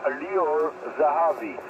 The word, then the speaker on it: Lior Zahavi: His name is Lior Zahavi. I can spell it for you.